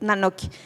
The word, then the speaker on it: Nanoky: cómo definirlo, una serpiente, es la sílaba na. Y na es el posesivo. Entonces, nok es una de las formas antiguas para decir papel, pero también significa libro, documento. Entonces, quiere decir nuestros libros.